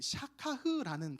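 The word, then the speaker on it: שכח: 이 단어가 히브리어로는 그 샤카흐라는 단어로 쓰고 있어요. 샤카흐. 따라해 볼까요? 샤카흐. 네, 좋아요.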